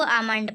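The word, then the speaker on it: Almond: आमंड 4। इल silent इसको आमंड पढ़ते हैं।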